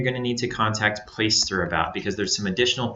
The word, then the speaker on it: Placester: And that is pronounced Placester. It's not Placesetter, it's not Placaster, it's not Placester, anything like that. It's Placester, Placester.